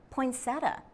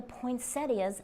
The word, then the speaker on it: poinsettia: Then there is the question of how to say poinsettia. Do not be surprised if you hear someone say poinsettia. Both pronunciations are common.